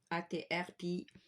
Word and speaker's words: Atriplex: Vous faites une recherche sur internet, sur Google, vous écrivez Atriplex, comme ça se prononce. Atriplex.